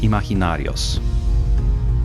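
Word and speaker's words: imaginarios: where I mess up it's not a hard G on amahi imaginary imaginary o's imaginary OHS yeah el libro de los seres imaginary OHS thank you Nana's coaching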